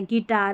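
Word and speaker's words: guitar: और गिटार में भी ऐसा है। गिटार। यहां पर यू को नहीं पढ़ा।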